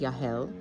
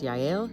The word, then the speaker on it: Yahel: of runs this place his name is yahel and um I thought it was yel but that's apparently a girl's name so I'm learning some things that they were saying it wrong and so at any rate he's a yahel and um he's a